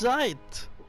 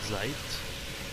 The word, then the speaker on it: Zeit: of the game and this is the only time I learned that it's zet and not zeit why not zeit it